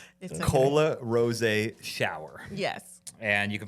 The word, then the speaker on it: Rosé: business name wrong Cola Ros shower yes and you can find her on Instagram Cola Ros r o e with the apostrophe above it not on Instagram it's